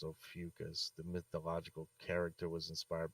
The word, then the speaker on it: Ophiuchus: it means serpent bear in greek and is pronounced ophiuchus the mythological character was inspired by the constellation